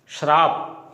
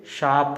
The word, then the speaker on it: शाप: श्राप, ये बिल्कुल अशुद्ध शब्द है। कई बार हम है वो लोकल या स्थानीय भाषा में शराब शब्द बोल देते हैं, जबकि मानक हिंदी में वो ये शब्द है वो श्राप न होकर के शाप होता है।